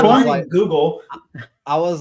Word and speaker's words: Leinenkugel: Leinenkugel. It's And not Which one? Leinenkugel. I was like Langenfelter, Leinenfelker.